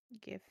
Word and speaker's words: GIF: Is GIF, or GIF? GIF. Yeah, G stands for graphics. yep. I'm a hard Exactly. G. I don't care what the creator says. It's a hard G.